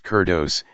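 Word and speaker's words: κέρδος: Greek word for Luca is kurdajay and is pronounced kurdos and folks it means of Uncertain Affinity gain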